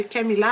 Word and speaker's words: Camilla: Mais quand que tu regardes sur Internet, la prononciation de Camilla avec 2 L, ça se dit vraiment comme ça, comme le, mettons, C-A-K-M-I-L-A, comme M-I-L, la. Tu sais, c'est pas parce que c'est 2 L collés que ça fait le son comme Y.